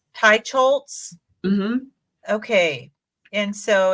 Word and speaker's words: Teicholz: How do you pronounce her name? Teicholz. Teicholz.